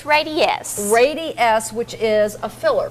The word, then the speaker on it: Radiesse: It's Radiesse.